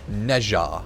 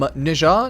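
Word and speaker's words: Nezha: right Speedy frame um nja Neja however you technically pronounce it I always say nja or I think a technical way to say is like nja or something like that but is a I believe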